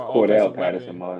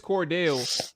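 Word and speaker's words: Cordarrelle: much as doggy is um i think it's cordell he keeps him corduroy he is cordelia he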